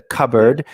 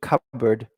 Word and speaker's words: cupboard: board but the pronunciation cupboard cupboard yeah now what sounds like this kind of you know cupboard cupboard yeah so the P it's very important the P is silent yeah we don't say